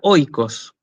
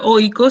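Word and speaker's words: οἶκος: Después tenemos el diptongo oi, que se pronuncia así, hoy. Entonces tenemos la palabra, como ya lo vimos la clase pasada, tenemos la palabra Moira, ¿sí? Y la palabra oikos.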